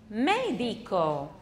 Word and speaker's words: medico: 好，医生怎么说？Medico.